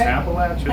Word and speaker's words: Appalachian: Appalachian.